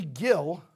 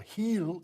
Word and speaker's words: Gil: And Louis Gill, or Heel, as they pronounce it, is going to be out until July.